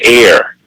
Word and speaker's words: heir: another or actually property that descends to an air and of course the word air contains the word her right air is spelled h r so air contains the word